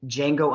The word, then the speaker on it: Django: i said he's in django unchained and then i said the d is silent but that's what jamie